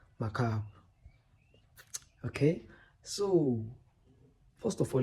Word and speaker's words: Macabre: The normal pronunciation should be mab pronounce it as macab.